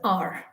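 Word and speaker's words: hour: are it is h-o-u-r the h is again silent over here i will meet you at the 12th r okay so h is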